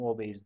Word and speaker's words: OBASE: Hizmetleri Ticaret Anonim Şirketi OBS obas diyen arkadaşlar da var Türkçe olarak OBS de diyebilirsiniz Yalnız sanırım obase diye okunuyor 53 lir 10 kuruşla